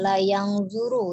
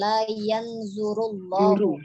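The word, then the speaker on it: لا ينظر الله: Jadi sekali lagi kita bacanya jelas saja, tidak menggunakan langsung tajwid ya, tidak la yanzuru ya, tapi la yanzurullahu.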